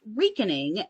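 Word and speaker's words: recaning: okay cool and it is pronounced like uh reek r-e-e-k weakening um and often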